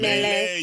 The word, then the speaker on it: melee: A millie weapon. What the is that? Millie. Mele. Melee.